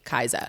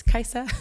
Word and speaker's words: Kaisa: say my name but if you say kai's i'll say no it's kaiser yeah with ness shout